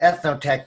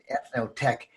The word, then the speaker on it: Eth-Noh-Tec: If we divide up those syllables, eth as in ethnic, or the cultural distinction, or ethos, the universal elements of art, and then the middle syllable, no, N-O-H, is a Japanese word for possibility, and tech originated from